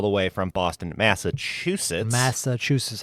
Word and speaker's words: Massachusetts: Massachusetts. Am I saying it wrong? You got to put a couple T's. You got to put T's at the end. Massachusetts. It's Massachusetts. Yes.